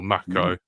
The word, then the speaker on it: Mako: Even though they're all set to what I like to call Mako green or macco as they pronounce it now apparently. Yeah, both macco and chocobo instead of chocoo. I know weird. It's wrong.